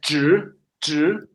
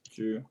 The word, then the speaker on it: 纸: Yeah, it's 纸. Sorry. 纸.